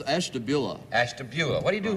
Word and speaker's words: Ashtabula: Hank Stein from establish how do you say that it's Ashtabula Ashtabula what do you